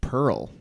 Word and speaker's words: Perl: So I would give points for sure for It's Pearl. okay. I'll say Pearl is wrong. To my knowledge, Pearl Sapphire and Amber are not the names of programming languages. Pearl is, however, it is a homophone.